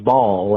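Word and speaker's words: Bawl: presents the Taxpayers Ball, that's spelled B-A-W-L. Vice Chair Josh Beasley had this to say. We have a huge event coming up on April 13th. We're calling it the Taxpayers Ball, as in crying ball.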